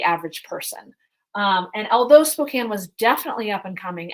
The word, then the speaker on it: Spokane: have heard of Spokane even Frasier miss mispronounces mispronounces it as Spokane um it is Spokane and uh it's it's